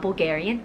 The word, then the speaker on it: Bulgari: can't right i'm not bulgarian okay so it's bulgari you have to say like boo like bulgari obviously they're super famous